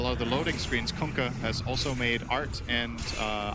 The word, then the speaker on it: Kunkka: That's how you pronounce it. You're welcome. Kunkka. Kunkka.